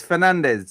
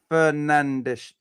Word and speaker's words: Fernandes: Lawrence, yes, it is Fernandez. Said like Fernandes.